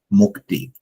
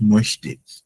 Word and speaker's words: mochte: Okay, mochte. So it's not möchte.